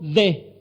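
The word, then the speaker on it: δέ: Esa palabra pero, del verso 22, aquí traducida así, se corresponde con el término griego de, y se pronuncia así, de.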